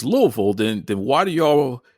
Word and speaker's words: Louisville: okay Lou you got put too much emphasis on the Louis it's just Louisville just let it just let it float all right so if it's loville then then why do